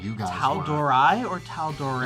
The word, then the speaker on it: Tal'Dorei: setting Tor Tor Tor Tor uh it's pronounced Tor so all of you people that were saying torai last week when we released a different video about this uh you were wrong and we don't want